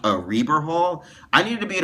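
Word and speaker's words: Rieber Hall: be at a place called I thought it's pronounced ryber Hall but it's it's pronounced a Reber Hall I needed to be at a place called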